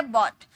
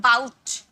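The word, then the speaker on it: bought: इसका second form होता है बॉट। बॉट देखिए, इसकी प्रोनाउंसिएशन मैंने लिख रखी है क्योंकि बहुत सारे स्टूडेंट्स से बाउट पढ़ते हैं, बाउट।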